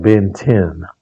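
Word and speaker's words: Bến Thành: We have their famous market which is called I call it Ben Thanh. I've heard it pronounced by some Vietnamese as like Ben 10.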